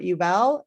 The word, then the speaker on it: Ubell: us i am joined today by dr robert yubell and uh did i pronounce it right robert yes perfect all right